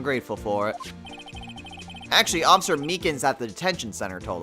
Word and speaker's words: Meekins: Actually, Officer Meekins at the detention center told us. That poor little doggy. Poor guy. I keep getting his name wrong calling him Meekly.